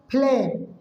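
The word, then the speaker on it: phlegm: अब इसको क्या पढ़ेंगे, फ्लेम, फ्लेम क्या पढ़ेंगे, फ्लेम, क्योंकि जी आपका भी यहाँ पर साइलेंट है क्योंकि इसके बाद में एम आ चुका है, ठीक है ना।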